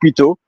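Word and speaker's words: Pluton: also the planet because in French is Pluto, but in English, in French, the planet is Pluto. P L U T O N. So you add an N at the end. And then first planet, Mercury.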